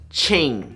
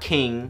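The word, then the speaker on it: Qing: no matter what and it's pronounced Ching not not King not queen and I didn't realize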